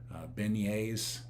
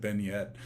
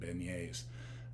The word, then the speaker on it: beignets: i you know it's it's kind of spelled like been yet so but i and so i said vignette and i got a